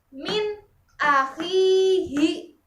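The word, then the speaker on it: مِنْ أَخِيهِ: Contoh dari alif adalah min akhihi.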